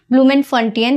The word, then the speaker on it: Bloemfontein: I particularly pronounce it like ब्लूमेनफंटियन और I think it इज the correct pronunciation.